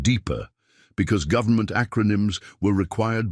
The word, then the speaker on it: DEPCR: Reginald was the head of the Department of Extraterrestrial Preparedness and Cosmic Relations, or DEPCR, which everyone pronounced deeper, because government acronyms were required by law to be either unpronounceable or accidentally inappropriate.